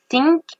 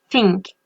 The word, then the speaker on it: think: Dites le think sans normalement et ensuite redites think en mettant votre langue entre vos dents et vous allez voir la différence. Enfin, vous allez surtout entendre la différence. On regarde think, think. Vous voyez, vous entendez bien la différence. La première, je l'ai mal dit parce que j'ai pas mis ma langue entre mes dents et la deuxième, j'ai